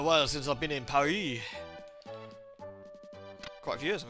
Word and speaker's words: Paris: I mean, the British say Paris generally, but obviously, if you. For the French, it's Paris, right? That's how you say it, but.